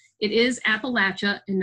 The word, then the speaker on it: Appalachia: Appalachia seeing hunger in Kentucky yeah they did pronounce it right it is Appalachia and not Appalachia all right so the Appalachian region is an